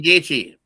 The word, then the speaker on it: Gaethje: Gaethje? Uh Justin Gaethje.